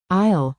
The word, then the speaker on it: aisle: Aisle is a walkway between shelves in a store. The letter S is silent.